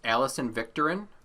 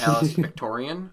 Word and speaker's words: Alison Victorin: Her name is actually pronounced Alison Victorin, not Alice Victorian.